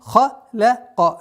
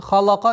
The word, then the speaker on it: خَلَقَ: Мен халяка. Лям мягкое произношение. Халака нет. Халяка. Ва, гу, ва.